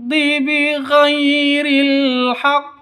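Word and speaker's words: بغير: tebal Ardi yatakabbarunailard bhairil haqq bhairil Haq Kalau yang ini alif lam qamariah tandanya sukun ya alqamariah Terus yang ini bhairi Gai sifat Lin lentur lemas tidak boleh sentak tidak boleh disentak tidak boleh dipanjangkan tidak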